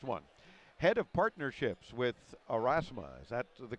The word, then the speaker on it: Aurasma: especially this next one head of Partnerships with arasa is that the correct pronunciation yes it is all righty is Matt